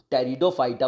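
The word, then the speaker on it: Pteridophyta: क्या बोलते हैं इसको, टेरिडोफाइटा बोलते हैं ना, टेरिडोफाइटा बोलते हैं, पीस में आपका क्या रहता है, साइलेंट है, टेरिडोफाइटा बोलते हैं, तो ऑल स्टेटमेंट्स आर राइट, इसका आंसर हो जाएगा 1, 2, 3।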